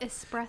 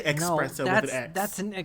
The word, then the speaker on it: espresso: jammies no what about espresso oh yeah people say expresso that's an incorrect pronunciation there are such things